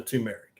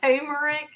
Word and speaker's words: turmeric: Turmeric. Yeah. It's that's how it's said on the comments. Turmeric. It's not turmeric.